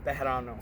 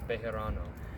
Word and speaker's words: Bejarano: Your last name. Bejarano. Bejarano. Yeah, you gotta roll it. I can't even roll it correctly. Bejarano.